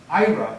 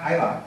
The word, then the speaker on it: Ira: When I tell her she can't even pronounce my name correctly, Ira, not Ila, she laughs.